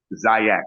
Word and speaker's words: Ziax: Said Zy with a Z. Ziax is pronounced with a Z.